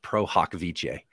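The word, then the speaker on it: pro hac vice: Cali so it's actually it's a Latin phrase it actually is pronounced prohokviche um so we shortened to call it pro-haw oh I'm admitted prohawk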